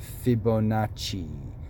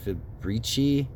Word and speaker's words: Fibonacci: And all I did was search out Tartaria Fibonacci. Because I mispronounced, I think I was so tired in the last video, I said Fibrici spiral or something.